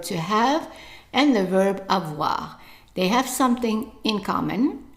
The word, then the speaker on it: avoir: we have done before, you know that the OI is pronounced as wa. So how would you pronounce the verb then? Right, avoir. Avoir. Okay, and make sure that you don't say avoir. It's avoir. So the stress is on the wa. It's longer and louder. Avoir. Okay?